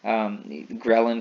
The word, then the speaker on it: ghrelin: chemicals there's some mnemonics ghrelin kind of sounds like the word growling though so if you have